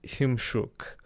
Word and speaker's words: Chimczuk: He told me the correct pronunciation is Joseph Chimczuk, but I'm going to continue.